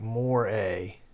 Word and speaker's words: moire: As a tip, moire is pronounced like more-a.